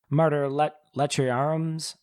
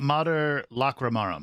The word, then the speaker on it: Mater Lacrimarum: And then Sarah is basically, chased by this baboon who happens to be Martyr Lechiarum's familiar. Am I pronouncing that correctly? Mater Lacrimarum. Lacrimarum.